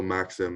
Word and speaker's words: Maxim: It's French, but so Maxim in English is fine, just fine.